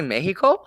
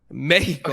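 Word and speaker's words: México: Wait, is that the proper way to say it? That is the way that Mexicanos would say it. Los Latinos. What? Jesus Christ. Fuck? Yeah. Mexico.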